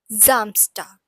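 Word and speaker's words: Samstag: that is zst so s has a little bit of z sound in it and as we learned in the previous lecture as well so it's pronounced as zamstar and finally we have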